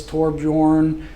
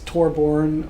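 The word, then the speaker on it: Torbjörn: My son tells me it's Torbjorn. Other people say it's Torborn.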